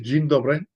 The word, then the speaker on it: dzień dobry: And just to show that for those that say, do you really know how to say that word properly, this is dzień dobry, This is how it's written in Polish.